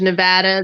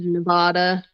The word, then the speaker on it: Nevada: There's Nevada, there's Nevada. Okay, I'm going to say Nevada. 12 hours later. I pronounce it Nevada, but it looks like people from Nevada prefer it to be pronounced Nevada.